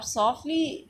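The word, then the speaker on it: softly: अब सॉफ्टली ए टी यहां पर साइलेंट है।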